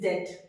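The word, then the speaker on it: debt: buffet okay this word D बीटी इट्स डेट और ऐसे ही व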